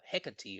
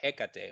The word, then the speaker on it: Hecate: of divines with uh hecatee or hekate or hekate whichever pronunciation you prefer um and ironically uh